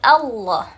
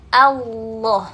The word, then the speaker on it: Allah: fathah kita tempelkan ke huruf lam Al lalu kita tebalkan suaranya Allah ditekan 2 harokat karena lamnya bertasydid Allah bukan Allah Mari kita praktek di